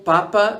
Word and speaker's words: papa: For example, papa means potato, whereas papa means father.